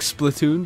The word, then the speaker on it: Splatoon: Liam, we've just been playing a bit of Splatoon, the worldwide demo. You say it different to me. I say Splatoon. I say it like Splatoon because it's like Platoon.